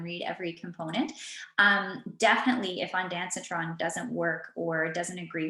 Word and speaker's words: Ondansetron: I'm not sure how to pronounce it, sorry. Ondansetron.